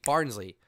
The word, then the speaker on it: Barnsley: Barnsley.